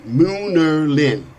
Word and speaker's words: Munerlyn: Moonalerin is spelled Munerlyn.